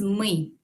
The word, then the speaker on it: мы: El equivalente de nosotros es мы.